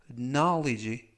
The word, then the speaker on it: knowledge: knowledge, knowledge, knowledge 라고 발음하시면 되겠고요. 이때 맨 앞에 있는 K는 묵음이라서 이번 단어에서 발음이 되지 않습니다.